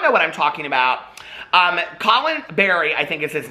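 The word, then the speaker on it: Khalen: He came out like, I think it's pronounced Colin. It's K-H-A-L-E-N.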